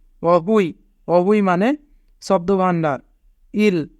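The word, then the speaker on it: 어휘: Young প্রথমে থাকলে young এর উচ্চারণ হয় না, ওয়া হিউত মাঝে থাকলে হ, যদি দুইটি স্বরবর্ণ থাকে তবে নিজের স্বরবর্ণটি আগে পড়তে হয়, উ ই। অহুই, অহুই মানে শব্দ ভাণ্ডার।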